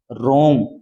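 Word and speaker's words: wrong: रखना इसे क्या बोलोगे आप रंग क्या बोलोगे रंग क्या बोलोगे रोंग रोंग माने क्या होता है गलत क्या होता है गलत य डब्लू क्या है साइलेंट है रंग मान लो जैसे डब्लू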